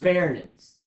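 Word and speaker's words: pharynx: respiratory that is my fairness is how that's pronounced fairness so fairx is the next structure basically how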